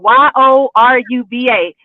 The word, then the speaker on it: Yoruba: sat in briefly for the Europe I always pronounce it wrong y-o-r-u-b-a Yoruba people yes because I love the talking